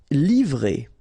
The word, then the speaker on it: livrer: Livrer. So quite easy, remember V and R, vr, livrer.